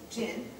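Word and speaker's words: djinn: You guys, it's a really difficult word to say because there's a D in front of it, but I don't think you're supposed to pronounce it. So I think I'm going to say jinn.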